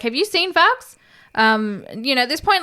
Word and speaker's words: Fuchs: Fox.